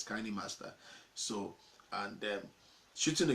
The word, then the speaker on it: KineMaster: master anywhere we go we used to call it kind master before but let I discover the pronunciation is kinda master so and shoots in